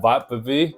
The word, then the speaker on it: Vappeby: talk about the IKEA Vappeby Bluetooth water resistant speaker. Yeah, it is called Vappeby according to Google Translation. That's how Google taught me how to pronounce this word. It's a Swedish word, obviously.